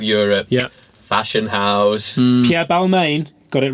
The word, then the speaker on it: Balmain: the infrastructure throughout Europe yeah fashion house Pierre Balmain got it right or Velma as a believing will be pronounced in French and he was in the